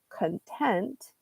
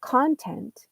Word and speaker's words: content: So, for example, if you say content and put the highlight on the second syllable, content, then that means that you're satisfied. You're happy with the situation as it is, and you're satisfied with it. You're content. Whereas if you highlight the first syllable, content, then you have a completely different word.